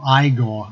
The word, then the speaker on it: Igor: for the performance of multi Feldman who played Igor or I got as you pronounced his leg in that particular film and